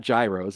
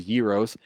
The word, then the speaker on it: gyros: doing suvlaki and Euros I I know I pronounced that correctly because it's not Gyros a Yos um it's great um